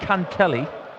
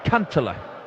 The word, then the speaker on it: Kantele: in Vienna last year it's not Cantelli it's can't Allah so we're doing him